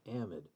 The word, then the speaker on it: amide: have an amide or an amide or an amide no one knows how to pronounce it so you hear it all the time unless you're in great britain in great britain it's amide amid amide it's always a modern great britain but everywhere else it's an amid amid